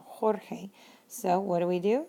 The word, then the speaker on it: Jorge: G to the e because it put changes that G sound like an H sound Jorge so what do we